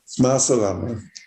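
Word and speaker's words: مع السلامة: Ma salame. Ma salam. Yeah. Ma salama.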